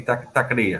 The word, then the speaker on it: taqueria: So it's technically taqueria. It's not taquera. It's taqueria.